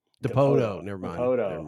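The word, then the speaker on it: Dipoto: Depoto.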